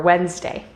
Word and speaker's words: Wednesday: in acquire or black d the letter d is silent when we see it in combination with j or g for example adjective bridge or edge however it is also silent in some other words such as sandwich or wednesday e we have talked